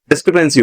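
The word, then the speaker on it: discrepancy: डिक्रीफेंसी या डिस्क्रिपेंसी होना चाहिए, इसकी प्रोनाउंसिएशन में गलत लग रही है, मुझे रॉन्ग से लगती है। डिस्क्रिपेंसी होता है वर्ड, डिस्क्रिपेंसी में होता है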